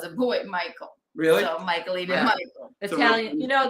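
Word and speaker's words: Michaelene: Her name is Michaeline. Like Michelle, but how do you spell that?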